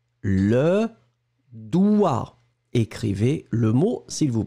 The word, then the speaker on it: doigt: Le doigt. Écrivez le mot, s'il vous plaît. Alors là, on est d'accord. On est d'accord que le doigt, vous l'écrivez D-O-I-G-T, d'accord, mais on ne prononce pas le G.